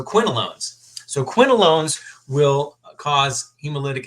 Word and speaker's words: quinolones: No, I will tell you what it is, but it rhymes with alone. So quinolones.